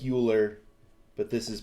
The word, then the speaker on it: Euler: circuits and they're named after euler whose name is spelled eu ler looks like euler but this is pronounced euler and an eulerian